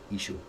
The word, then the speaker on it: Yeshua: Victor Alexander felt that the name of Joshua should be pronounced correctly. Yeshua.